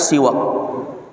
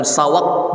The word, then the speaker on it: siwak: pembahasan yang berkaitan dengan siwak setelah dimaklumi dengan dikasihnya Siwak bacanya bukan sawat bukan Swag Tapi bacanya Siwak itu adalah Ismun Lil